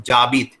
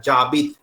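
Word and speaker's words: j'habite: और ये हाबित में एच साइलेंट है, दिस इज नॉट, एच को नहीं प्रोनाउंस करेंगे, सिर्फ जाबित। एंड टुगेदर ज और आबिद एक साथ, जाबिद, एच इज साइलेंट।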